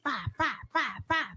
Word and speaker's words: FIYE: Hey, five.